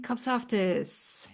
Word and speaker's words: Kopsaftis: hi and welcome to lead well welcome Eileen kofus is that the right way of pronouncing your yes my husband would be very